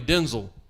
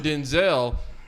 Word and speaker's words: Denzel: on Instagram where apparently we've been saying his name wrong his like entire career. Who? Denzel, because his name is really Denzel.